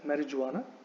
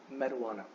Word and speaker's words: marijuana: So there is no j sound. So this word should not be pronounced as marijuana, which is how often people pronounce it. So it is not marijuana, it is actually marijuana.